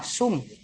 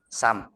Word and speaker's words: SUM: ini tentang Sam ngobrol di urang Sunda mah sum nah tapi saya harapkan kalian melafalkan dengan pelafalan yang benar Sam ya Itu kan untuk apa